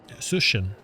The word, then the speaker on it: Cixin: Cixin. Yeah, I listened to today to how we said it, and that's how it's pronounced.